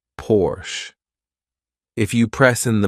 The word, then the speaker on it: Porsche: By the way, some Americans say Porsche, which I think is really wrong because the car is produced in Germany, and in Germany, you say Porsche.